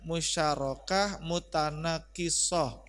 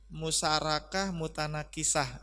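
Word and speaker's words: musyarakah mutanaqisah: Ini bacanya musyarakah mutanakisoh. Ayo, musyarakah mutanakisoh. Ya, jadi jangan sampai nanti ini kalau kita nggak pernah baca ini ketahuan musyarakah mutanakisah gitu ya.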